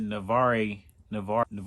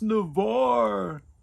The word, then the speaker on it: Navarre: I pronounced it Navarre, Florida. But my homie, who from Pensacola, he said, "Bro, it's Navarre. It's Navarre."